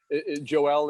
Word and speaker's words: Joel: Working in TV, however, we like to get the names pronounced correctly. So Joel is how you Perfect.